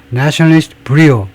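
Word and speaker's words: brio: 브리오 브리오를 보겠습니다. 브리오인지 브라이오인지 발언부터 모르겠는데요. 이런 단어가 있나요?에 발음을 써 주면 좋은데 예 브리오.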